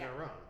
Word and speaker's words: Iran: In Iran. Am I saying it right? Iron. Iron. Okay. It's like Italy, not Italy.